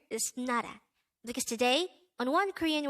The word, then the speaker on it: 나라: number 235 nada nada this is pronounced as a two-syllable word the first syllable is na the second syllable is pronounce it with me nada nada the korean term nara means country again nara is country now let's